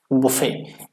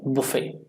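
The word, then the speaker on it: buffet: यहाँ पर T silent है प्रोनाउंसिएशन में, आप इतना सा ध्यान रखना. BUFFE. टी को काट कर ये आप ऐसे पढ़ सकते हो इसको, बुफे. क्या पढ़ोगे? बुफे, ठीक है.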